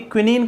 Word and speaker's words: quinine: उस वक्त जब आपकी क्विनीन का आविष्कार हुआ था, ठीक है ना, जिसको आप कुनैन बोलते हो ना, एक्चुअली वो क्विनीन होता है, QUININ, इसकी स्पेलिंग